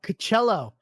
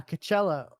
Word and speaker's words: Coachella: Um Oh, Coachello. Yeah, Coachella.